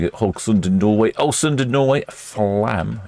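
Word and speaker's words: Flåm: Hogund Norway als Norway flam in Norway or flom I think it might be pronounced and then Bergen in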